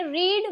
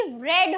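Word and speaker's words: read: रीड का वी टू एंड we three रेड हो जाएगा। रेड उसको हम रीड नहीं बोलेंगे। स्पेलिंग भले ही सेम हो लेकिन प्रोनंसिएशन अलग हो जाएगा।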